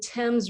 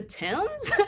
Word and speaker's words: Thames: So like the Thames River, which is spelled Thames. And it's just like, if it were really about phonetics, would that be pronounced the Thames?